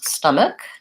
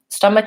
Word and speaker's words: stomach: Stomach is pronounced with the first vowel is an sound, and it has first syllable stress. So stum is long and ik is short.